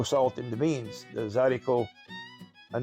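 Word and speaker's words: zydeco: that style of music became known as zaricot, but it was spelled phonetically, which is Z-Y-D-E-C-O. But the real way to spell it in French, it's plural. It's D-E-S, haricot, Harricot, des haricots. So that's where the zaricot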